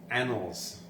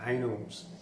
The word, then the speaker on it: annals: third last because I I'm totally mispronounced annals and I said anals um a double n